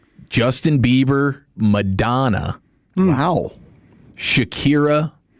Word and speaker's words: Shakira: And Shakura is a I say her name wrong. Shakura. Shakira.